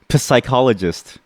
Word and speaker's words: psychologist: What about psychologist? Psychologist. Yeah, it's a psychologist. I call them silent P's.